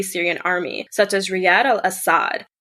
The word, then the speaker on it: al-Assad: lot cooler yeah so bashar al-assad it is pronounced al-assad in arabic but like every western media person says assad and then i catch myself saying it and i'm like oh no that's wrong yeah i i do that